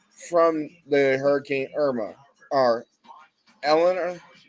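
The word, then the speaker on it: Helene: Or Elena? How do you pronounce that again? Helena? Helena.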